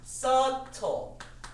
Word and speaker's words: subtle: subtle. 비가 발음이 안 돼요. subtle이라고 합니다.